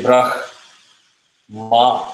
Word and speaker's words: Brahma: You say brah, ma separately. Brah, ma. You don't say brah, khma. Very difficult to say. So you always say brah, ma. We are always taught as Brahma.